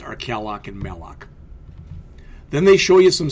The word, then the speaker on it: malloc: All right, that's how, literally how they're pronounced, are calloc and malloc.